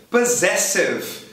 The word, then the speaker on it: possessive: Possessive, que não me deixa mentir. Possessive. O dois S acontece duas vezes. Na primeira, o do S é pronunciado Z. Na segunda, é S mesmo, possessive.